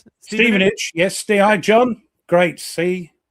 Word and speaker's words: Stevenage: Stevenage. Yes. Stei, John. Great. See, they like the time. Ste, not Stephenage. No, Steven. It's Steven. Steven Age. Yeah.